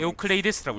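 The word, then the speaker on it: Εὐκλείδης: 에우클레이데스라고 했습니다. 에우클레이데스. 그래서 원어를 살려서 읽으면은 에우클레이데스 기하학이라고 읽는 게 맞습니다.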